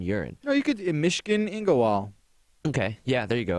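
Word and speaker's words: Myshkin Ingawale: No, you could in Mishkin Ingowal.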